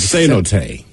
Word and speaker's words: cenote: They have a word like cenote. Cenotes, right? Cenote? But then he adds pronounced S-A-Y, say-N-O, no, T-A-Y.